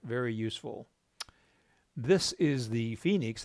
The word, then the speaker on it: Fenix: This is the Fenix, that's pronounced Phoenix, like the city north of us, those of us in Tucson.